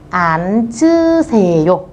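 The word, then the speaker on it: 앉으세요: Theo như quy tắc cô nói, chữ N giữ lại chữ chờ các bạn bắn lên trên. Vì vậy từ này sẽ đọc là án chư xề yô.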